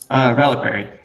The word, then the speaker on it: Reliquary: Reliquary. That's how you pronounce it.